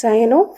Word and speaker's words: cyano: For example, bromine will be pronounced as bromo, chlorine will be pronounced as chloro, cyanide as cyano, fluorine as fluoro, etc.